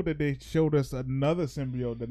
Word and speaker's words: symbiote: Yeah, hey, Jenny, it's symbiote, not symbiote.